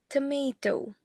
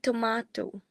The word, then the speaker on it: tomato: For instance, the vowel in tomato is pronounced as u in general British. See, it's like instead of it being tomato, it would be tomato.